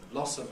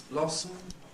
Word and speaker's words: blossom: that medal becomes medal schah and M may make camic M so Blossom becomes Blossom and last make so